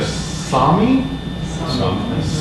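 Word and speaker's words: Sámi: But I may pronounce this incorrectly, the Sami, that's correct.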